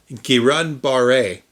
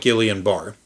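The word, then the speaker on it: Guillain-Barré: GBS is first off actually pronounced Kiran Baret syndrome, but moving past that people do call it Gileian bar.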